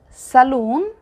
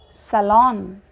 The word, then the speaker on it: salon: This is not saloon, this is salon.